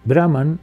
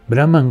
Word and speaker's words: Brahman: Brahman cuando es leído en un texto se pronuncia Brahman, pero cuando se canta se pronuncia Brahman. Pero como existen excepciones, algunas veces suena Brahman y otras veces suena Brahman.